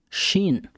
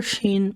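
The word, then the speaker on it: ש: s h and when the letter sheen comes with a dagesh on the top left of it it makes the sound of the letter s you can also call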